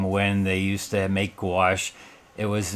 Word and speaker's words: gouache: And a lot of people always ask, it's like, what is gouache and how you pronounce it? Well, it's gouache and it is opaque watercolor.